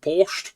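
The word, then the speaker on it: borscht: I do like the butcher pronunciation, but borched. Borched. You can see it. B O R S C H T.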